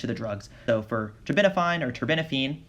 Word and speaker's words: terbinafine: The other note about terbinafine is that you can pronounce it taste isn't fine, as in it's going to be accompanied by taste disturbances.